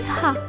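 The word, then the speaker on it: ه: The letter He. Repeat with me, Ha. This letter is pronounced like the English H as in happy or hello. Unlike English, the Arabic letter H is always pronounced.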